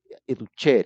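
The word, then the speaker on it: educare: clásico que significa dutcher se pronuncia se escribe duscher pero la ce se pronuncia latín como si fuera como llevar intermedio o un h edu chair y por lo tanto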